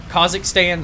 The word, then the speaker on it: Kazakhstan: The level in Kazakhstan, or however it's pronounced. Kazakhstan, that's how it's pronounced. The proper way. The right way.